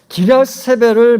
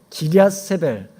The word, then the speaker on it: 기럇세벨: 발음이 조금 어렵죠? 기럇세벨. 잘못 발음하면 혀가 다칠 수 있어요. 기럇세벨입니다. 기럇세벨.